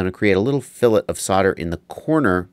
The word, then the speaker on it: fillet: It's called F-I-L-L-E-T, not fillet, fillet. That's how they say it.